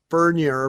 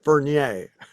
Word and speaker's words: Furnier: Well, his family pronounces it Furnier, but Alice pronounces it Fernier.